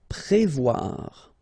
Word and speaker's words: Prévoir: Prévoir. Okay, remember O and E together, you will get the sound wa, wa, wa, wa. Voir here, and then pré. Prévoir.